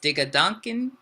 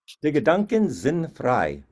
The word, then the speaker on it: Die Gedanken sind frei: So it's Digaduncan. Say it again, please. Die Gedanken sind frei.